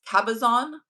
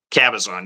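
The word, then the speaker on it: Cabazon: we just talked about and is is it pronounced it's Kabazon. Kabazon. Yes. Kabazon.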